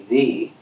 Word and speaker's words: ye: I mean, it never was meant to be ye, it was always meant to be thee.